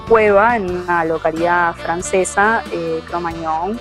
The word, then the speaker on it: Cro-Magnon: en una localidad francesa, Cro-Magnon, se pronuncia, no es con ñ, es con gn, y bueno, de ahí